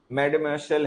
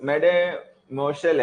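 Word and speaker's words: mademoiselle: उसके बाद में जो लिखे गए वर्ड्स हैं, डैमशल है, मैडमेशल है, ये फ्रेंच वर्ड है, इसकी प्रोनाउंसिएशन इंग्लिश वाली नहीं, थोड़ी फ्रेंच की अलग होती है, सॉफ्ट होती है बहुत।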